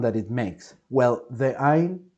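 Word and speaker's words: עין: E here, I'm sorry, I cannot pronounce this sound because it's a glottal sound that Latin American speakers we don't have, and I guess that I'm never gonna be able to pronounce this sound. I can try to fake it, but it's gonna sound something like "oh," okay, like a sound that you make with your throat.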